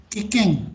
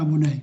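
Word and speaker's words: 危険: Kikeng, dibacanya kikeng, bukan abunai.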